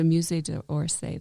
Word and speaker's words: Musée d'Orsay: The Musée d'Orsay, that's right.